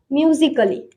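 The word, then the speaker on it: musically: बाद LLY आता है तो ए साइलेंट होता है। किसी भी वर्ड में ए के बाद LLY आता है तो वहां पे हमें ए को नहीं पढ़ना है, वहां पे ए साइलेंट रहेगा।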